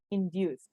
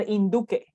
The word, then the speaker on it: induce: It's not induque or induc or induki, no. It's not about that. This is induce, but it has the same root over there.